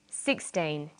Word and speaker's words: sixteen: say 16 or 60 usually the first syllable in a number is stressed sixteen sixty notice that it's the final n in teen that you have to be careful with teen t but of course